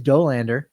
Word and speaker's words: Dollander: It is Dollander. Think about Homer, because Homer says Doe.